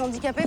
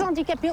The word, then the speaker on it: handicapés: là à déposséder les handicapés, faut le faire quand Bah, même. écoute, tu arrêtes de dire des handicapés, on dit des handicapés. Il y a un H muet, je te l'ai toujours dit.